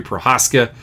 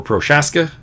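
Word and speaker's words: Procházka: everywhere volcanoes dimmer verses Yuri Prohaska or prochaska I've heard it pronounced both wastes will go with prochaska your reproach asked I'm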